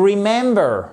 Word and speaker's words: remember: Donc, vous avez l'accentuation sur la seconde la deuxième syllabe ici, puisque vous en avez trois.